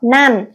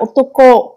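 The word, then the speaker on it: 男: Chữ nam này Onyumi đọc là dan hoặc nan. Kunyumi đọc là otoko.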